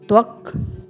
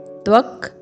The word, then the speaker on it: त्वक्: फिर है हस्तात्, आपको यहाँ पे रुकना है, अर्धवर्ण त पे, फिर दोबारा से है त्वक, अर्धवर्ण त, पूर्ण वर्ण व और अर्धवर्ण क, त्वक।